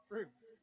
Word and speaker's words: Frome: So our West Country expert Dan has just said it's Froome, which is what I thought it was, but I didn't want to say anything. Well, but if you spell it with an O, then I'm going to say Frome. Absolutely. But he has corrected me, so I will say Froome from now on.